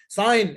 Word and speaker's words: sign: Now, there is a case for G, okay, that it's not pronounced at all.